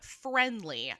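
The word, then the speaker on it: Phrendly: but for an example, there is a sexting service called Friendly. Um and just to be clear, it's spelled p h r e n d l y.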